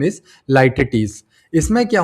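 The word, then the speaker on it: litotes: ये ऐसे ही प्रोनाउंस होता है। लिटोट्स नहीं पढ़ते इसको। Exact pronunciation is लाइटटीस।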